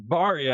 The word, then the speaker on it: Berry: to talk about was Berry Financial Group, and I wasn't Yes. really familiar with them. They're more local to Houston area. Started Houston. Barry, actually. Bar's how you say it. It's a family name.